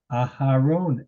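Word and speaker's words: אַהֲרֹן: Aharon, excellent.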